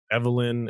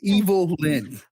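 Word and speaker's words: Evil-Lyn: I thought Evelyn and Gorgo, is that his name? Orko. Hey, Orko. Kadish, you're saying her name wrong, man. Evil Lyn. It's Evil Lyn.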